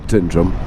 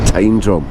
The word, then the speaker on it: Tyndrum: It's where the Green Welly Cafe is, and everybody but everybody calls it Tyndrum. It's not Tyndrum, it's Tyndrum.